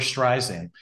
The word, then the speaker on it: Streisand: Now, so I understand you recently toured with your sister Barbara Streisand in both the U.S. and Streisand, like sand on a beach.